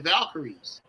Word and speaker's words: Valkyries: they're out here, the Valkyries. And if you say, "How do you pronounce that?" or spell that. Just think of Val and Kyrie. Okay, that's how you can think about it.